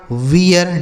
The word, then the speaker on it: wear: आगे WEAR, इसे पढ़ा जाएगा वियर। W से वा, ई ए का उच्चारण ई, आर से र, ये लिखा गया आपका वियर।